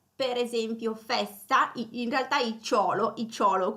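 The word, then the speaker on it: -icciolo: Abbiamo poi anche il suffisso icciolo, per esempio festa, in realtà icciolo come appunto l'accento sulla O, quindi festa, festicciola, e porto, porticciolo, ok?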